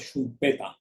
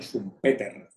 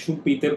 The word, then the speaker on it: Schumpeter: Que así es como se pronuncia, ¿no? En austríaco es Schumpeter, ¿ok? Y en alemán Schumpeter, ¿ok? No es Schumpeter como dice mucha gente, como también decían mis profesores, ¿no?